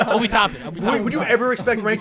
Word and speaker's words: Obi Toppin: Tobin Said his name wrong like, twice. Obi Toppin. Would you ever expect Rank to say his name correctly? Sorry. Would you ever expect him? Obi Tobin is playing for Matt Nagby.